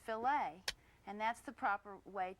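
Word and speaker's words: filet: If you're speaking about meat cookery, the French word f i l e t, it's pronounced filt and that's the proper way to talk about a filt of beef.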